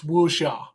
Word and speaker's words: wuxia: By the way, it's wuxia. Wuxia, thank you. I as soon as I said it out loud, I was like, that's not how that's pronounced. That's how an American pronounces this.